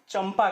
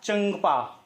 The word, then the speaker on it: चंपा: पर लिखा है चंपा अब आप इसका उच्चारण हमेशा चंपा करते हैं और यही सही माना जाता है कहीं भी आपने इसका उच्चारण अनुसार की तरह से करने की कोशिश की है अर्थात चंदपा इस तरह से आपने कभी इसका उच्चारण किया है जब आधे लुट इस